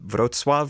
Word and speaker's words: Wrocław: The towns I would recommend are a town called Wrocław, which is spelled Wroclaw, Lublin, where my family's from, Gdansk up north, and there's 3 cities up there, Gdynia and Sopot.